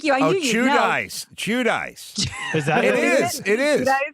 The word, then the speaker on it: Giudice: I think it's pronounced Giudice or Giudice. Is it? Thank you. I knew you know. Giudice. Is that it? It is. Oh, yeah. That's tough. They do they do the Italian Giudice.